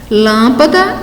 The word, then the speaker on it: lâmpada: Então, aí nós temos como exemplo Ângela, lâmpada e metafísica.